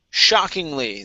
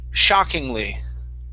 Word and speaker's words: shockingly: okay very good okay this word here is pronounced shockingly the stress is at the very beginning of the word shockingly shockingly good okay nice